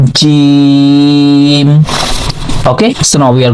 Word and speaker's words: جيم: So in the Jim we are using our middle part of tongue. So this middle part to touch with the middle palate. Okay, so from here we can pronounce this letter Jim.